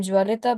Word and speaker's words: Jwalitha: I'm Jwalita, by the way, Jwalitha. It pronounced as Jwalita.